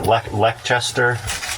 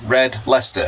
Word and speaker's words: Red Leicester: piece of that uh what how do you pronounce it lechester read it read let how can you not read that red leicester what's the problem okay it sounds disgusting but